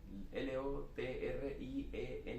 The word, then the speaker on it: Lotriend: No, L-O-T-R-I-E-N-D, es como un final al final, Lotriend. Lotriend, bueno, Sí.